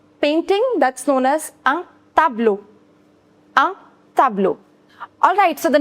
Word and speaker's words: tableau: I told you over here as well, E-A-U, the pronunciation is O. So tableau.